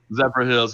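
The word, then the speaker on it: Zephyrhills: Zephyrfills is I, huge for I that. I love it. always Yeah. say it wrong. How do you say that, city? Zephyr Hills, yeah.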